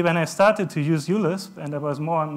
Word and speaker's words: uLisp: uLisp is actually pronounced uLisp. I pronounced this microLisp. He corrected me. I found online that many people discussed, no, it needs to be microLisp. It's a small u, like microcontroller. It's not. It's uLisp.